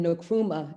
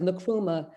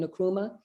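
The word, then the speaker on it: Nkrumah: named after zeke away and no kuma is nakrumah those um first letters have a strong pronunciation for the name as in english we would say it's something else but it's a zika way in nakuma and kuruma no wait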